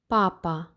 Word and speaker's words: папа: But the P is being pronounced exactly like the P in English, so papa. П. Папа.